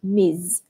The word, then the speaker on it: Ms: ms webster so remember although it's spelled ms it's pronounced miz ms webster we have